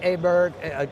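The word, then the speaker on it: Åberg: All right, so Ludwig Aberg, or Berg, I should say to pronounce it correctly, had a chance to speak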